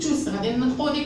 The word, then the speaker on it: tous: Oui, dans ce cas-là, je vais prononcer tous. La lettre S. Les champions sont tous dans le stade de sport.